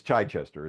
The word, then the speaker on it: Chichester: And it's Chichester. It's I know it's Chichester. Chichester Okay, and thank you. in the Brits, pronounce it correctly, and I screwed it up.